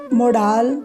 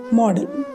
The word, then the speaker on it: modal: ਕੁਛ ਕਨਫਿਊਜ਼ਨਸ ਹੈ, ਬਟ ਮੋਡਾਲ is not a correct pronunciation of this word. The correct pronunciation is model.